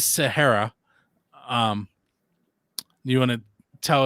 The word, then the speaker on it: Sahayra: of time but um i checked on the pronunciation um so it is sahara um you want to